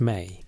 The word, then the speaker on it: me: The word the Sumerianss used most frequently to describe these regulations was me, pronounced may.